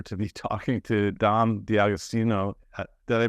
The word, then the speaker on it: D'Agostino: my great pleasure to be talking to Dom di austino did I pronounce that right yeah that's right perfect um